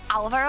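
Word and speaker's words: Álvaro: Do you know, with Alvaro, I think the accent is on the A, because usually in Spanish it goes automatically on the second syllable. But it's on the first one.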